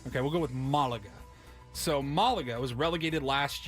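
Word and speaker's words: Málaga: someone will let well the action is on the first a so I don't know Mulligan Malaga okay we'll go with Malaga so Malaga was relegated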